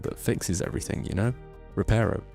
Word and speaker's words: Reparo: It reminds me of the Harry Potter spell that fixes everything, you know? Reparo. It's Reparo.